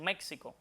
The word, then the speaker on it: México: quizás más raramente dicen México, pero lo aconsejable, lo que recomiendan las academias de la lengua española es que esta X en estos tres topónimos que mencioné se pronuncie como J porque es lo adecuado.